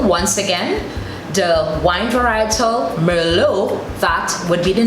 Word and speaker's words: Merlot: For example, the word Merlot, we tend to say Merlot because it's spelled M-E-R-L-O-T. But in French, what they do is they take away the T and it's pronounced as Merlot or Merlot, as in English we would pronounce it.